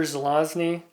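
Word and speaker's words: Zelazny: darkness by Roger Roger zelosny I always try to reverse the Z and the n and so I have to make a concerted effort to pronounce his last name right this is an Avon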